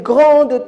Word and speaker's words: grand: là qui a une grande taille grand très bien vous n'avez pas prononcer la lettre d ou bien la console